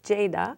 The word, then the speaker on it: Ceyda: It's a bit hard for people to pronounce it because G is like J in Turkish. Okay. And so it's like Ceyda here, but it's Ceyda.